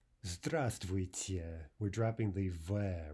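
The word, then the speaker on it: здравствуйте: them right now your standard Russian greeting is the stress tweets yeah stress tweets yeah we're dropping the vibe right so instead of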